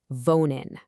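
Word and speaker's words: wohnen: And that verb is vonin. You say it like v o n.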